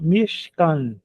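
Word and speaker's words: משכן: Esse chevá som, é só, é só para fechar a sílaba, vai ficar mich. Mich. E aqui o outro, a outra sílaba m can caf com camates embaixo é a k a e nun sofite aquele n no final e portanto mishcan outra palavra importante na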